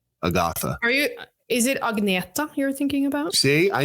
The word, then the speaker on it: Agnetha: people are the same over there and they pronounce stuff a different way, like Agatha. Is it Agneta you're thinking about? See, I knew it. See, I would have said Agnetha, but you said, say it again.